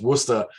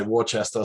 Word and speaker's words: Worcester: the the name of you pronounced the name of where the show was shot as worcester because i was going to say warchester so sorry about that